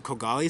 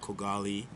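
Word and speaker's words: Yusra Khogali: Sorry, I'm going to say Yusra's name properly because we used to say a lot Yusra Kogali in the media. And I've been corrected that it's Kogali. So I'm going to say it properly. So Yusra Kogali told us...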